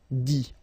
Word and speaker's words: dit: Okay, remember, you put this T, you don't pronounce it. Écrit, dit.